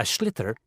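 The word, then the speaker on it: sliotar: this ball called a schlitter that's s-l-i-o-t-a-r so it's not spelled the way it's pronounced you his ears into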